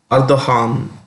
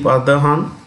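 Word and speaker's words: Erdoğan: The president is Recep Tayyip Erdogan, the G is silent, or pronounced with an H. The currency is lira. So you have capital Ankara, the president Recep Tayyip Erdogan, and lira being the, what we say, the currency.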